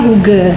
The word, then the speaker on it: hygge: Natalia dulu deh iya kalau huge sendiri ejaannya itu Hotel Yank golov Golf eeko kok bukan huge ya Hi harusnya tulisan Iya tulisannya Hige Tapi bacanya huge Kenapa itu dari bahasa Denmark Denmark yang artinya something